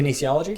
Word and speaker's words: Kinesiology: Doctor Who is into kinology that's how you pronounce it Kinesiology Kinesiology yeah and he basically build a a